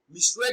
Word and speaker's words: misread: Misread is pronounced as misread. Read is pronounced louder and longer.